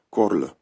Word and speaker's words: корль: на кінець VII століття слов'яни вимовляли це слово як корль Карл корль короткий а перейшов в о отримали корль це саме тоді коли